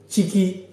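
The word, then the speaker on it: ciki: Chiki.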